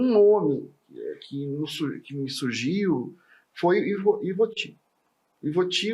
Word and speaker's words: Ivoti: Mas aí ficaram no que tá corrigindo, todo mundo fazer como é que se pronuncia, etc. Daí ficou Ivoti. Mas você é gaúcho, aqui em Minas Gerais é Ivoti mesmo.